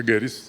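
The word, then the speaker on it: Goeritz: Lo iba a dirigir don Francisco Serrano con don Matías Geritz, que es un alemán, se pronuncia Geritz, ¿sí?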